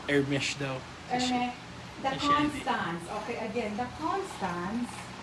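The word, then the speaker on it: Hermès: is nasa a girls pronounces hermes silent age dialect it's hermes okay so that you know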